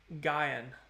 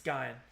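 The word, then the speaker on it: Guion: That is pronounced Guyan. Okay, so it's not Guyan, it's Guyan.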